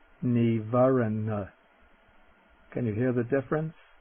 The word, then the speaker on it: nīvaraṇa: the word for hindrance the first n is the dental neivaren can you hear the